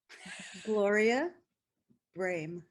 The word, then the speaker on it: Gloria Brame: And so can you pronounce your name so that it's pronounced properly? Gloria Brame.